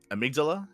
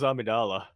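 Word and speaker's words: Amygdala: going to be um amigdala it's El Dorado LEL lines snow Pierce that's how it's pronounced I thought it was I thought it I I thought it was Amidala like oh no oh no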